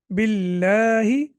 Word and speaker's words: بالله: When the word Allah has kasra before it, pronounce it light. What does that mean to pronounce it light? When we normally pronounce the word Allah, we pronounce it heavy. The lam is heavy. For example, we say Allah. But when we have kasra before it, then we pronounce it light. For example, billah, a'udhu billah.